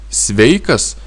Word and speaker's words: sveikas: И свейкас, свейкас ударение здесь.